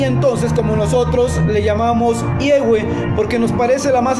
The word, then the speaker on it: Yahweh: que refiere a que la pronunciación en el idioma castellano sería I-E-U-E, Yahweh.